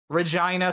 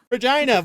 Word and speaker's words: Regina: Regina, Saskatchewan. You know what they say about that place? It rhymes with fun.